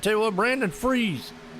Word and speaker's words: Fries: All right, tell you what, Brandon Freeze. Last name is spelled Fries, but he goes by Freeze. So Brandon Freeze, trying to freeze the field right there.